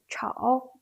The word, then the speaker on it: 吵: We can say the pronunciation of 吵 is not as same as its phonetic element 少.